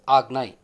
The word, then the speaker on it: Ajna: The chakra is often written as Ajna but pronounced as Agnai.